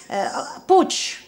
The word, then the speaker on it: Puig: La gent en aquella sala, doncs totes treballaven per una organització que es deia Puig, em sembla que es pronuncia. Puig, que és una gran